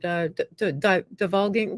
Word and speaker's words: divulging: I'm putting a hard G in there because I'm Francophone. That's the reason. I'm speaking it in French.